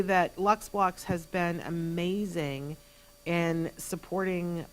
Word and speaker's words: LUXBLOX: So these are Lux Blocks. They are available, and it's spelled a very specific way. So it's LUXBLOX.